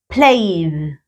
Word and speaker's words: played: Yes, she played. ¿Ves? Cambia la pronunciación cuando está en pasado. Played. Como un sonidito a una consonante, no a esta, como a la D. Solo sonido.